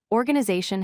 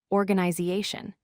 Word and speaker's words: organization: Organization has stress on the third syllable. Organization.